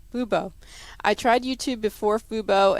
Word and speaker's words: Fubo: You mentioned Hulu Live and YouTube, but failed to mention Fubo. I said it wrong. Fubo.